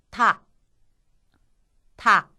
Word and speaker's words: た: 타행에 있는 것도 이와 마찬가지로 단어의 첫음으로 왔을 때 타는 타, 첫음이 아닐 때는 따에 가까운 느낌으로 발음을 하시면 되겠습니다. 타, 타.